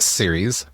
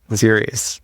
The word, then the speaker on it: Ceres: I think it's pronounced Ceres. Ceres. Yes.